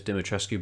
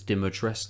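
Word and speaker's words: Dimitrescu: uh diates everyone again I thought it was demat tresu but it's diates as everybody pronounces it kind of in the game but you're stalked by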